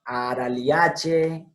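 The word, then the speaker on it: Araliaceae: Apochinache, araliache, viñoniache, etcétera, etcétera, etcétera. ¿Bien? Miren, todo esto es che.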